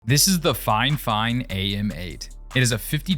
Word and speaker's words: Fifine: xlr2 which is crazy fine fine it is pronounced fine fine by the way not the fine did send this to